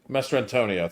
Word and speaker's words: Mastrantonio: Mastrantonio.